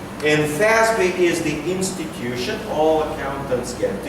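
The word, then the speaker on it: FASB: it's called plan fincial Accounting Standards Board it's pronounced as in English fby and fby is the institution all accountants get together they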